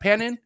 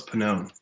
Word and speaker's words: Pannone: Did I say it right? Direct Pannone? Close. Pannone. Yeah. Pannone. Oh, I like that. Pannone. Yeah, What is that? It's Italian.